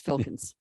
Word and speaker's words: Filkins: It's never easy to pronounce. It's Filkins.